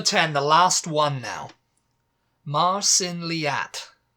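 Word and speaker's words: Mar sin leat: otherwise uh number 10 the last one now Marin leat it's m a r new word s i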